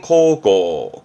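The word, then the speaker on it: 孝行: 그렇죠 효도하는 효자가 되겠습니다 요거는 효행 효도를 의미하는 효행 발음은 고고 고고 거기다가 양친의 진짜죠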